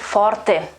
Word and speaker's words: forte: i mean the same meaning in italian we pronounce it forte so it is a bit different and uh